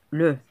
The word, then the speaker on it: le: Le elle avec E se prononce le.